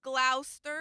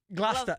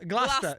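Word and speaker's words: Gloucester: Um, hey, Glaster. Glaster in the building. Wrong. No, wrong. It was close, but Glasta. Glasta. Glasta.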